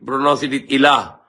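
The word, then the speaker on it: إله: Alif, Lam, Ha. Equivalent to Arabic English, A, L, H. So we pronounce it Ilah.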